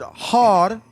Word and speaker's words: Heru: We say Haru, but when you really pronounce it, it's Har. Har. They pronounce it hard, but when you really write it without the vowels, in the Coptic is HR. Har.